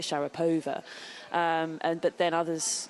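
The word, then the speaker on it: Sharapova: it I think we would always say like Shar POA um and but then others you know would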